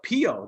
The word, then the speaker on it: Piio: here today with nico bistolfi the ceo of pio that's spelled p-i-i-o good morning nico how you doing